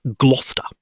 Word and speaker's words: Gloucester: English people say it Gloucester. The C is silent.